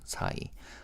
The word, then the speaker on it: 사이: Number 4 is pronounced as 사. 2 is called 이, so 사이.